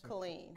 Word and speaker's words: Killeen: Killeen. Killeen. How do you spell it, with a K or a C?